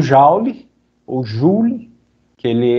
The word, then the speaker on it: Joule: A energia, a gente usa o Joule, ou Joule, que ele é francês, né? Então o certo seria a gente pronunciar Joule, mas o pessoal habituou-se a chamar Joule, então não faz diferença, tá?